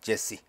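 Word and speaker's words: Jesse: 오벳은 제시 우리 성경에는 2세라고 나오죠 어 영어 발음은 제시 제시의 아버지였고 제시는 킹 데이빗 다윗왕의 아버지였다 데이빗은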